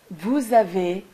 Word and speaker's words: vous avez: You'll see that in this last or second column, you always pronounce a Z between the S and the A. Nous avons, vous avez, ils ont, elles ont. This is called liaison.